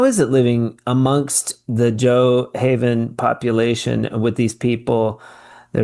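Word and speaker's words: Gjoa Haven: the community this uh jo I want to pronounce it right G g Yeah Joe Haven Joe Haven and it's kind of like it sounds Joah Gj o a haven joah haven uh you how is it living amongst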